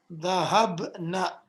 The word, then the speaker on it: ذهبنا: Be sure to pronounce this in this way. Very short noon. Because if you say ذهبنا, that changes the meaning as you will learn later on. You say ذهبنا, keep it very short.